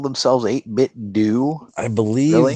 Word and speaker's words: 8BitDo: You're saying they call themselves 8-bit do? I believe Really? they pronounce it 8-bit do, from what I've heard. Although it looks like 8-bit do to me.